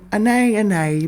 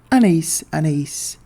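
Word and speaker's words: Anaïs Anaïs: And the fragrance in question is none other than Ana by Kashar. Yes, an A an A by Kasharl. I do also speak French by the way and I know it's supposed to be pronounced Anise Anise from Kasharel.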